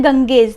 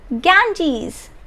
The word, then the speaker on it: Ganges: This is a river in India and the name of this river is, look at it, Ganges. No, the pronunciation is Ganges, right?